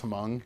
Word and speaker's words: Hmong: several times that yes, Clint Eastwood says the name wrong. He says Hmong instead of Hmong.